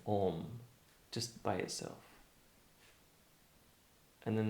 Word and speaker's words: om: not just about theory just say om a u m um to start off with that just just start